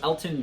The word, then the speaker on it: Elgton: So with the number 44th overall pick, the Packers have selected guard Elgton Jenkins from Mississippi State. You'll notice his first name has a G in it. The G is silent, so if you're cheering